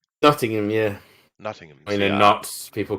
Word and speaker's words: Nottingham: from from Notting Nottingham you are do I pronounce that correctly Nottingham Nottingham yeah nottingam knots people call it knots where we are